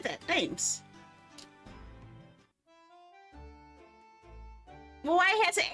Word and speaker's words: Thames: Thames. Well, why it has an H in there? Why does it have an H if it's not supposed to be pronounced?